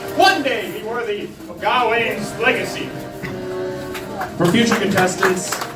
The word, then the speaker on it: Gawain: I had to let you win, so that you could continue to train and perhaps one day be worthy of Gawain's legacy. For future contestants, it's pronounced Gawain, but that was an excellent attempt.